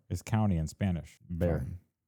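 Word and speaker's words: Bexar: I figured out what uh Bear County because B X A R is county in Spanish. Bear Bear County.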